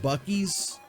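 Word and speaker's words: Buc-ee's: Like, I live in a very small town, a very rural area, and oh, is it Bucky's? That makes more sense. I was pronouncing it like a jackass.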